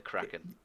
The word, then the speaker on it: Kraken: Just Kraken. Like the Kraken.